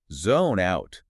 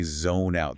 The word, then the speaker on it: zone out: Notice how native speakers don't say zone out. There's no gap. Exactly. We link the consonant sound at the end of zone directly to the vowel sound at the beginning of out.